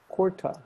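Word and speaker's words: kurta: australia carta corda cordon curtis cordia curta yeah it's kourta but in australia it's gorda do you have any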